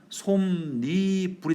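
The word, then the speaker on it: 솜이불: 그런데 솜, 이불 합성어나 파생어에서 앞에 말이 받침이 있고 뒤에 오는 말이 이야, 여요, 유로 시작하면 니은을 집어넣어서 최종적인 발음은 솜니 불이 되는 거죠.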